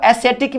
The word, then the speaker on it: ascetic: इसको एसेटिक भी बोला जाता है, एसेटिक। एसेटिक की स्पेलिंग होती है ASCETIC, एसेटिक।